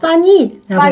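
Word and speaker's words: 翻译: 통역 자체로 보면은 통이가 아니라 파니라고 해요. P 발음이 아니라 F 발음이에요. 그래서 파니.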